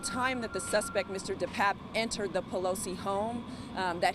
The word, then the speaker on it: DePape: For starter, the district attorney says the suspect's name is actually pronounced David DePape, not DePepe. At the time that the suspect, Mr. DePape, entered the Pelosi home, that he was in fact looking for Miss Pelosi.